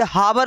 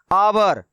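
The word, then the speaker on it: hour: क्योंकि ये हावर लिखा हुआ नहीं है, आवर लिखा हुआ है। इनको हम लोग क्या पढ़ते हैं? आवर।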